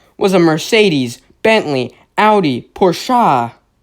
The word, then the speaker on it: Porsche: a Mercedes, Bentley, Audi, Porsche. Pretty sure that's how you pronounce it. That's how everybody pronounces it, right? It's not a Porsche, it's a Porsche. It's supposed to be fancy.